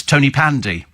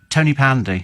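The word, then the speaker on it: Tonypandy: be able to pronounce tony pandy not tony but ton as in pon ton um yeah whatever well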